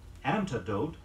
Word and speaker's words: antidote: Here's a pair of words frequently confused in pronunciation. Anecdote, A-N-E-C-D-O-T-E, and antidote, A-N-T-I-D-O-T-E.